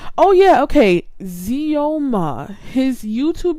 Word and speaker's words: Xioma: I want to pronounce his name correctly. Oh yeah, okay. Zioma.